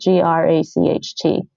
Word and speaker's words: gracht: the German CH, but the G in Dutch is actually voiced. So you want to voice that G in Dutch. So when you say the word for canal in Dutch, it's spelled Gracht. It's gracht. You want to get that gracht, and the CH is quieter.